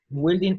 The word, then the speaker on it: building: Okay, la U no se pronuncia, se elimina.